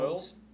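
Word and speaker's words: Bolles: How do you pronounce his last name? What round? Boyles? What round? 1? Bowles? Bowles? B-O-L, yes, right? Yeah. Bowles, Started yeah.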